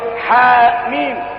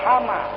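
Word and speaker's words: حم: Kadang-kadang dua huruf ha mim. Tidak dibaca hama, tidak dibaca yasa, tapi yasin. Berharokat dia.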